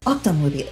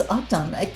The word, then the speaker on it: octonwoomy: Octonwoomy. Okay, I see. It's not Octo, it's Octon.